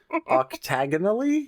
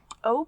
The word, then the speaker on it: Optiganally: Octagonally Yours? It's not octagonally. It's Optiganally P-A-L-L-Y.